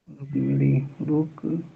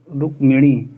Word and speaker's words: रुक्मिणी: रुक्मिणी रुक्मिणी रुक रुक नहीं, एक ही आ रहा, रुक्मिणी।